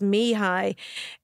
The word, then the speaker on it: Mihaly: pronounce the way I do it is is phonetically. So it's Mihi um Chiken Mihi.